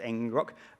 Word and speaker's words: ngrok: can use something called ngrok i think it's pronounced engine rock um and it allows